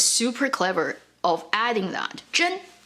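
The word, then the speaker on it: 甄: Zhen, its meaning is selection, or tell something from something. It has the exact same pronunciation as another character, Zhen, truth, real.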